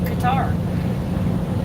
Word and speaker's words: Qatar: I mean, look up, the high temps for Qatar. And yes, I do pronounce it correctly.